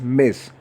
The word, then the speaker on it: Ms: तो MS will be pronounced as Miss, Dear Miss Shagufta for example।